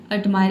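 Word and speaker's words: admire: ठीक है, देखिए किसी भी शब्द में अगर आर लेटर से पहले कोई वावल आ जाता है तो वहाँ पे हमें क्या समझना है कि आर लेटर साइलेंट है। यहाँ पे आधा र का साउंड दिया है, मतलब कि ये साइलेंट के बराबर है। यहाँ पे आधा र को आपको प्रोनाउंस नहीं करना है, आपको केवल बोलना है एडमायर, इसलिए यहाँ पे कोष्ट में दिया है।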